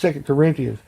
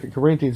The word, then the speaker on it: 2 Corinthians: You know, he didn't even know how to pronounce 2 Corinthians. Anybody that's ever been to Bible school once knows that 2 Corinthians, not 2 Corinthians.